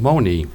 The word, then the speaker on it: Monee: The French called Marie, but the Ottawa had no sound for the letter R in their dialect, so the Ottawa called her Monee, hence our modern-day pronunciation of Monee.